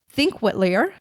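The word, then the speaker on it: Þingvellir: me with a pronunciation it's called think whiter national park that's crazy because it's spelled like thing valer I know I know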